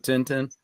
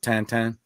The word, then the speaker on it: Tintin: movie you ever seen the movie adventures of tintin actually it's adventures of tantan that's how you're supposed to pronounce it there's a person out there who